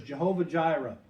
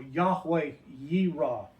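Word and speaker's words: Yahweh Yireh: Which by the way in the King James it'll you'll see that referred to as Jehovah Gyra or Yahweh yra is the way it would be pronounced in Hebrew.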